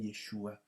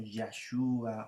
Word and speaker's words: Yeshua: se nos ha revelado, el nombre de Yeshua, y es el que nosotros podemos mencionar en forma clara, ¿ya? Yo sé que por ahí también hay otras pronunciaciones como Yahshua o Yahshua, pero la verdad es que